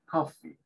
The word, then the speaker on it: coffee: La doble E se pronuncia como la I nuestra, pero un poquito más larga. Coffee.